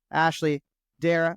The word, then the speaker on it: Ashleigh Darrach: I have to remember, like, C is silent, but the H is technically there, right?